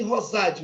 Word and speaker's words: Rosade: Rosade, o D é mudo.